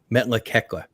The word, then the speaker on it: Metlakatla: Yes, yeah, we went up to Ketchikan Island, Alaska, and or no, Metlakatla is how you say it, and it's really